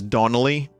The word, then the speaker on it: Donnelly: there my good traveler my name is donnelly i guess i should tell you that it's spelled as one word even though it's pronounced as two words but honestly i don't